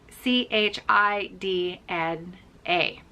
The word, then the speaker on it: echidna: an echidna echidna and it's spelled d e-c-h-i-d-n a and it's pronounced echidna i'm pretty sure i've got that right and i'm going to